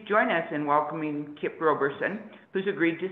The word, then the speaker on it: Roberson: By the way, his name is pronounced Roberson, as in row, row, row your boat.